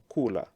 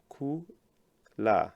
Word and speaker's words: kula: look at this verb, kula. If you split this verb into 2, ku-la, into 2 syllables, ku, that is the first syllable, and then la, that is the second syllable.